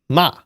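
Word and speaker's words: ま: Ma. Okay. Maza. Ma. Ma. Pronounced like the English word ma.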